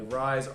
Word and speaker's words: Rizse: Rise, R-I-Z, as in Z-S-E.